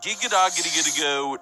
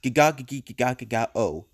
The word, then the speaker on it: gegagedigedagedago: It's practically impossible to pronounce, but it was known as the gegagedigedagedago trend. It involved... Yeah, he literally said it wrong. It's gegagedigedagedagedago.